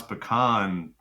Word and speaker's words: pecan: Yeah, first of all, you pronounce pecan in the southern way, which I appreciate, because when I hear that, I'm like, oh, this is gonna be a good pie.